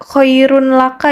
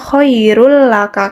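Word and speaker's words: خيرٌ لك: berarti kalimatnya kohairullaka nah dibacanya enggak koirun laka ya anak-anak Jadi dibacanya koirul laka karena dimasukkan kemudian ketika bertemu dengan huruf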